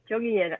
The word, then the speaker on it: Jungian: Jungian.